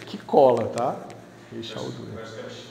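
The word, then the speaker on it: Raychaudhuri: Tá, se você pronunciar em português é Rei Chalduri. Aí você fala alguma coisa rápida parecida com isso, que cola, tá? Rei Chalduri.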